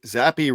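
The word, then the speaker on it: Zappe: playoffs just Z Bailey zappy zappy rhymes with crappy is that okay I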